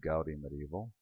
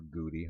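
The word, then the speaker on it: Goudy Medieval: It's called Gaudi Medieval. Or Goody, however you pronounce that. I call it Gaudi because that's, you know, I live in the Netherlands now, and the OU sound is ow.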